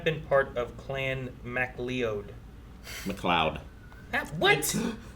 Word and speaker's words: MacLeod: McLeod. What? How is that McLeod? It's Scottish. Yeah. MacLeod. That's not McLeod, okay? McLeod. I've seen the word McLeod. cloud, okay? It's McLeod.